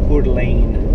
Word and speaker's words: Coeur d'Alene: Coeur d'Alene, I think is how the locals pronounce it.